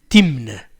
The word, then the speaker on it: Dymphna: Dimna. Se escribe d y m ph a, pero se pronuncia dimna porque esa p no suena.